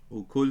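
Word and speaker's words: ܘܟܠ: Now you'll notice ukul, how I pronounce that, has to do with the softening rule of 4 specific letters, which we call dul, which are beth, dalet, waw, lemet, also called maplatha.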